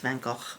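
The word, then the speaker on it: Van Gogh: uh van go never actually it's pronounced van go van go never met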